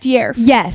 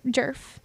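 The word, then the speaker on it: Djerf: her last name dear it's like deerf I thought it was Matilda J jerf but it's like Matilda deerf yeah I don't know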